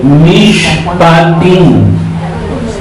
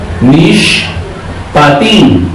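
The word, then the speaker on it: Mishpatim: Apará número 18 y tiene por título Mish patin. M patín se escribe n i s h p a t i n. Nish patín significa y justo significa sentencia, ordenanzas, leyes, mandamientos.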